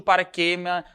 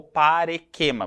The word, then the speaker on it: parequema: E Guilherme, e no que consiste o paraquema ou o paraquema, né? Pode ser chamado de paraquema ou parequema. Pode ser, essas duas pronúncias elas são aceitas, tá?